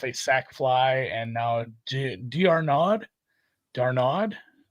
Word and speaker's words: d'Arnaud: sack fly, and now Darnaud. It's like one of the Musketeers. This guy's name. D'Arnaud. D'Artagnan. D'Arnaud. D'Artagnan. Yeah, I know how to say. So the last D is silent.